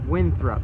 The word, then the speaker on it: Winthrop: outdoor store saloon this is goal and it's winthrop that's how you say it I don't know